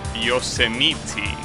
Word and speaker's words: Yosemite: It's pronounced Yosemite. Well, that's a weird pronunciation. Though I guess at least that pronunciation is relatively logical within the English boundaries. It's just that at the end you will assume that it will be pronounced like the word might, like the bug, but no, it's instead meaty.